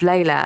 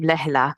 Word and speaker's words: Leila: I would be like no it's not it's Leila and actually if we think about uh people who's are Hindi speakers they will and this isn't wrong actually this is just another pronunciation and I don't mind this um but they will pronounce my name Lea because that is more probably correct as to to how you meant to say as opposed to a flat Lea but so it's interesting